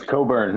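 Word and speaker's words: Cockburn: I mean, yes, Coburn. Make sure you pronounce yeah, do not sound that out.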